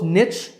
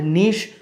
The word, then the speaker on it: niche: you sound artificial but of course both Niche and Niche are acceptable all right I hope